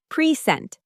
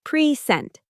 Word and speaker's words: present: For example, take the word present. That's a noun, stress on the first syllable. But when you add the suffix to make it a verb, it becomes present. Same spelling, completely different stress.